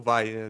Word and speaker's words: Wai: É, é, é why ou Vai, depende como vai pronunciar, né?